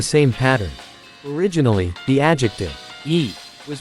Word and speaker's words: いい: Originally the adjective e was pronounced yoi and written using kanji is shown.